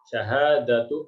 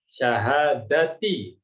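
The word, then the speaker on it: شهادةِ: Nah, kebanyakan orang salahnya di sini, biasanya kebanyakan ini bacanya syahadatu an la ilaha illallah. Ya, salah ya, yang betul adalah syahadati.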